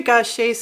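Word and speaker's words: Gauthier: pronounce her last name it's french and i think it isn't spelled like it's pronounced gaucher gautier thank you jamie mary goshay's songwriting is amazing too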